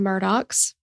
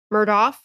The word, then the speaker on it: Murdaugh: So if you have eyes and you're seeing it, it appears to be spelled Murdaugh. No? Murdaugh? Yeah. Yeah, like or Murdaugh. Sure, I'll allow that.